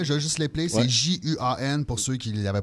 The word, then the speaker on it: Juan: C'est Juan, pour ceux qui ne l'avaient pas remarqué. Ça se prononce à l'espagnol.